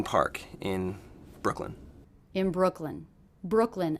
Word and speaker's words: Brooklyn: in Brooklyn in Brooklyn Brooklyn a two cable word one of the syllables will be stressed what do you hear as being stressed Brooklyn Brooklyn definitely it's that first syllable Brook Brook Brooklyn Brooklyn